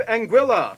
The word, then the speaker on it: Anguilla: much tax Havens first we have Anguilla yeah that's how you pronounce it named after the Spanish word for eel because the islands are